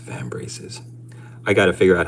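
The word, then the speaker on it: vambrace: the trim on his van branches." Dude, it's pronounced van braces.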